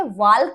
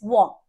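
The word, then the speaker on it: walk: WAL के वाल्क नहीं है, इट्स वॉक, ठीक है।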